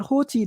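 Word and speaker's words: ὅτι: That we pronounce that Hoti, that's the start of verse 7.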